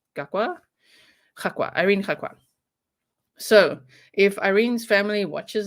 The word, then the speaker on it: Irene Gakwa: Your original pronunciation of a name would be spot on. Yeah. Irene Gakwa. That's how we would say it in South Africa, and I would say in Africa, we'd say Irene Gakwa.